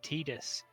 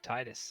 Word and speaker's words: Tidus: that one or like the the guy who voices him says tidus but i've always pronounced it titus yeah i call him titus i don't think titus is at all close to what his name is yes maybe they should